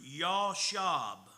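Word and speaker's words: ישב: Uh it comes from a Hebrew word that's pronounced yab. That's how they would say sit still in Hebrew, yahashab.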